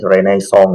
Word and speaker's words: Renaissance: Bacanya itu kayak aksen Prancis, Renaissance gitu, atau apa gitu. Tapi ya, kalau di sih ada Renaissance, dosennya bilang Renaissance. Kalau orang kan nyebutnya Renaissance aja, santai.